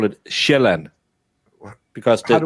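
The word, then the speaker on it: Sjælland: We call it shellan because the j makes a j sound. So it's land. But in English you pronounce it sealand.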